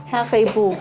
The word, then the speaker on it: HARIBO: How do you think you pronounce Haribo, Grayson? Haribo.